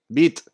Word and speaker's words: Vite: I'm gonna create the project with Vite, you know. Bit is the pronunciation.